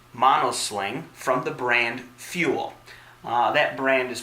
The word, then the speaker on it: Ful: the brick house mono sling from the brand fuel that brand is pronounced spelled out as F long you else